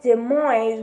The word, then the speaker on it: Dumoise: to read it first what word was de mois which is how you pronounce it here but we already know